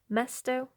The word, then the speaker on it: mesto: yeah there you go Mesto this one rhymes with the word pesto so pesto I don't